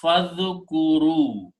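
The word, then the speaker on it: فاذكروا: And when you read together, you do not pronounce this alif again. Then it becomes fadhkuru.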